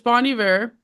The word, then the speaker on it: Bon Iver: and so uh yeah so it's Bonnie ver um didn't know that